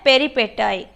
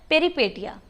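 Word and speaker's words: peripeteia: एक होती है पेरिपेटाई या पेरिपेटिया, उसको अमेरिकन इंग्लिश में बोला जाता है पेरिपेटाई, और ब्रिटिश में बोला जाता है पेरिपेटिया।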